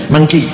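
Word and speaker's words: Meng Qi: yang diutusnya muslim namanya monki baca mki Manci bacanya monki muslim eh dipotong dua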